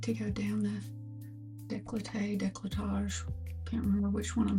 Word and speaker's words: décolletage: I think it's décolletage, not décolleté. But you can correct me if I'm wrong, but I think I've looked that up before. Because I was surprised. I was like, oh, I've been saying it wrong.